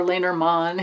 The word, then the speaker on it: Lenormand: taroko studio golden dreams lenormand or lanerman is really the way you pronounce it oracle cards i honestly